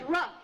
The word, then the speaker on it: rough: That's rough. Spelled the same way as the other. O-U-G-H.